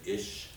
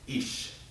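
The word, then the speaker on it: אִישׁ: animals names himself each it's written ish but it's pronounced each I was corrected there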